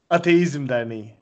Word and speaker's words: Ateizm Derneği: Wait, Onur is a native Turkish speaker, so he should pronounce it. Ateizm Derneği.